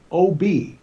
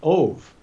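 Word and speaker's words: אוב: But the word ob, pronounced ov, actually means spirits of the dead.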